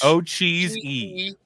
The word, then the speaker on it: Ocheesy: OCH and then cheese and then another E on the end. Yeah, O-C-H. Ocheesy.